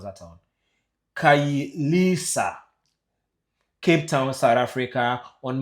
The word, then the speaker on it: Khayelitsha: How do you pronounce that town? Khayelitsha, Cape Town, South Africa, on Monday, 30th June 2026, during the anti-immigrant demonstration linked to ongoing xenophobic attacks.